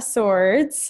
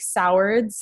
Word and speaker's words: Sowards: My name's Leanna Sowards. If you see my name, you'll probably pronounce it like Sowards. That's what everybody does, but it's actually Sowards.